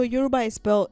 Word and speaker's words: Yoruba: Also, Yoruba it's pronounced Yoruba, not Yoruba.